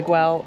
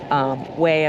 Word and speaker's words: Güell: I've heard people say Güell. I've heard Way. Way, I believe, is the Catalonian pronunciation, so that's what we're going to go with from now on. Parkway.